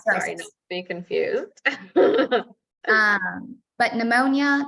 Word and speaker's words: pneumonia: be confused um but pneumonia this is the one that's always funny with the silent P um usually it is